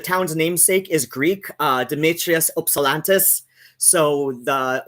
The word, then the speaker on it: Ypsilanti: It's like locally, it's like an I, Ypsilanti. Technically, the town's namesake is Greek, Demetrius Ypsilantis.